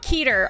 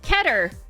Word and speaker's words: Keter: It is actually not Keter. I looked it up. It is not Keter. It is actually pronounced Keter.